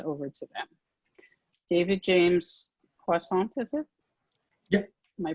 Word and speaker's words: Poissant: David James Poissant, is it? Yep. Am I pronouncing it right? Yeah. Yep, Poissant, Okay.